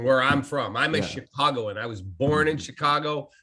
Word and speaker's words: Chicago: us into a meeting we do not live in chicago we live in chicago and so he put signs up leading into the studio that said we speak c-h-i dash c-a-w dash g-o chicago and i'm like okay